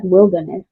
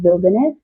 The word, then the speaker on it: Wilderness: recommend shopping in Wilderness it spelled like Wilderness but it's Wilderness and is it's got